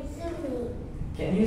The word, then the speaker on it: Juhi: My name is Zumi. Can you spell it? J U I no. H. Zumi.